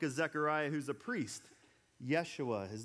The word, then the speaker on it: Yeshua: If you were to look at his name in Hebrew, Joshua would be pronounced Yeshua.